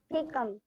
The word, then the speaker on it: cecum: Cecum. ठीक है, सीकम pronounce करना है।